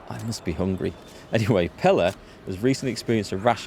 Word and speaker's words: Pella: gained plus one courage I keep wanting to pronounce this as paella I must be hungry anyway Pella has recently experienced a